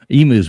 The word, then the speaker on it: emu: out well well so emu's one already Australian okay sorry fols I gotta pick you up on your pronunciation brother it's e mu this emu thing I